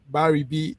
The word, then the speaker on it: Birabi: viewers you are listening to uh Dr Bar B this is uh a distinguished man yes did I pronounce the name well Babi Babi that's a beautiful name uh your your